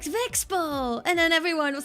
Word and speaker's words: VeXpo: because I went to V Expo, or as I learned at the convention, most people say VeXpo. I'm now ashamed that I've been mispronouncing it.